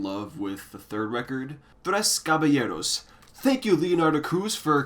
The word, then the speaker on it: Tres Caballeros: But truth be told, I'm really only in love with the third record, Tres Caballeros. Thank you, Leonardo Cruz, for confirming that pronunciation, by the way.